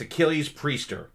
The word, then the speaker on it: Achilles Priester: And I think I actually have I may butcher it, but I think I have the correct pronunciation of the drummer's name. It's Achilles Priester.